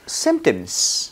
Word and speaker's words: symptoms: 본문도 한번 읽어볼 건데 p 발음하면 안 돼요 겠죠 What are his symptoms What are his 오케이